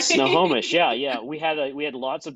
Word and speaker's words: Snohomish: and How do you even pronounce Snohomish, right? Snohomish.